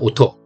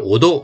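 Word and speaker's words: おと: 그래서 여러분들 발음 좀 주의를 하셔야 됩니다.에 소리라는 소리가 난다 할 때 소리가 오토입니다. 오토. 요거를 오도 이렇게 발음하는 사람들이 많거든요. 오도가 아니라 오토 혹은 오토 오토 이렇게 발음하셔야 돼요.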